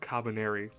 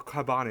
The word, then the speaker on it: Kabane: been overrun by things called cabiner which are creatures that are or cabani excuse me that's what they're actually pronouncing as they are creatures that